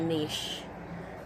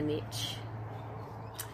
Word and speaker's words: niche: like that, is that I should have a niche, or as the Americans say it, a niche. It's not a niche, it's a niche.